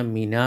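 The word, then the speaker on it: مِنْ: സുക്കൂനാണ് അൽ ഹിന്ദി അപ്പൊ രണ്ട് സുക്കൂൻ ഒരുമിച്ച് വരൂല ഉച്ചാരണത്തിന് പ്രയാസം ആകുന്നത് കൊണ്ടാണ് ഈ നൂനിന്റെ മുകളിലുള്ള സുക്കൂന്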